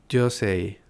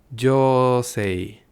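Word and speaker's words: 女性: Si hubiera dicho mujer, hubiera dicho yosei. Pero no dije yosei, dije yosei. Así que alargué la sílaba del primer kanji y al hacer eso la palabra cambió de sentido y pasó a tener otro sentido distinto.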